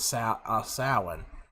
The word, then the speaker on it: Samhain: And even Tom, I think Tom even knew that the word was pronounced as Samhain. And I was just like, what? Samhain? It's spelled Samhain, but I mean, that caught me by surprise. I was like, okay.